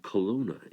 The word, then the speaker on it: Kelowna: raised and still live in a place called Kelowna in Canada which is pronounced all right or k no loud a